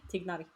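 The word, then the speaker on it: Tighnari: want to know now it's tigar not ady ah okay add the G okay thank you you pronounced the G you pronounced the G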